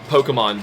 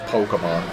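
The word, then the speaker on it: Pokémon: a good Pokemon but it's just Pokemon Pokemon they want you to say that extra syllable but yeah what whatever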